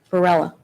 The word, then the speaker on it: Varela: Varela.